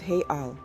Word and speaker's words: real: let's talk currency Brazil's currency is the Brazilian real pronounced hey Al and as of August 88 2024 the exchange